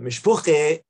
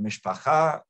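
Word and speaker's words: mishpocha: they're familiar with but mishpoche is a yiddish version of the hebrew word mishpacha which means family and he says it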